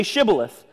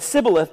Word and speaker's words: Shibboleth: If he replied no, they said, "All right, say Shibboleth." And if he said Sibboleth because he could not pronounce the word correctly, they seized him and killed them at the fords of Jordan.